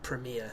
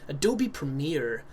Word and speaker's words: Premiere: software called Adobe uh Premiere As Americans say Adobe Premiere and uh Premiere Pro but to me it's Premier because that's how we speak in this country so I